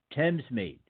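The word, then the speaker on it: Thamesmead: that's on western way Thames meet now that is not spelled the way it sounds you spell it th a.m. es m ad okay that's in London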